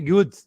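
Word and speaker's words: རྒྱུད: uma pronúncia do tibetano ele junta as duas letras e fica meio o r meio que desaparece então é Gude o livro de Gude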